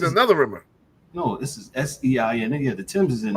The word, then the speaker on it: Seine: No, this is Seine.